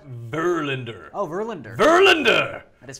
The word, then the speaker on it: Verlander: It's actually pronounced... Verlander? Verlander.